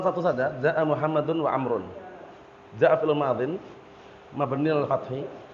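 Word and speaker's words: عمرو: Walaupun enggak kasih harakat orang bahasanya enggak akan ngomar bacanya. Dia bacanya pasti Amr. Bacanya tidak akan Umar karena langsung dipastikan Amr mafhum.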